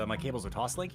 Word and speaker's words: TOSLINK: it's my cables are toss link you said toss link I believe is how it's pronounced my cables are toslink there we go have